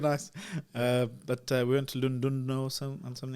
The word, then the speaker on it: Llandudno: But we went to Llandudno or something. Llandudno, yeah. Welsh, so they pronounce it Llandudno.